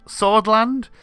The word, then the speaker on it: Sordland: of a nation called swordland uh which rhymes with fjord land so in many ways